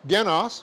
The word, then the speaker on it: genos: Narthrus neuter noun, genos, put the accent on the wrong syllable, genos, which means basically born one, with emphasis on being born from common stock.